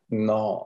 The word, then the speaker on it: gnaw: no on that bone g and a w is that no no no i the g is silent no no i cannot but here there's nothing to gnaw on and there is